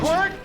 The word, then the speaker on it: Quirt: Quirt. His name is spelled Q-U-I-R-T. Sure as something. Q-U-I-R-T. Kurt It's like, Evans? who spells Kurt that way?